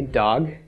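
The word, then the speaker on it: דג: comments under the doll 'it pronounced dog a dog is fish a dog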